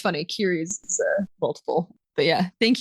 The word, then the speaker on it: Keres: Oh, I pronounce it Kiris. It's Kiris.